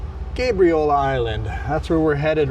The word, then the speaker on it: Gabriola: I got lots of comments saying it's pronounced Gabriola, not Gabriola. So, Gabriel like the angel, not like Gabby. Gabriola Island.